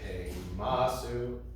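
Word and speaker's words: הֵמַסּוּ: It's heimasu. It's not any different musically, right? It's just not on the last syllable.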